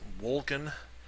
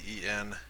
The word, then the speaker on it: Wolcen: I think it's pronounced Wolcen. It's Wolcen, and I think it's called like the Lords of Fate.